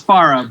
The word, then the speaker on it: Faraj: I'm pronouncing that right? Okay. It's Farah, but Farah? All right, let's start over.